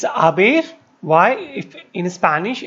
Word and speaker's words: haber: One thing, as you know, it's haber. Why? If in Spanish any word that start with H is silent, so the pronunciation is a, as, a, hemos, habéis, an.